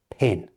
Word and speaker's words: PIN: This one is never said as the letters, but as the word itself, PIN.